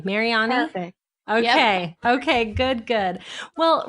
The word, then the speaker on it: Mariani: How did I do on the pronunciation of the last name? Mariani?